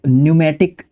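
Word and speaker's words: pneumatic: पी के बाद जब एन आ रहा है तो आपका साइलेंट रहता है। ठीक है? इसको न्यूमेटिक पढ़ते हैं हम लोग।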